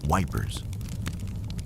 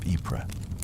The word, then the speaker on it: Ypres: A sign reads "Wipers," a soldier's mispronunciation of Ypres.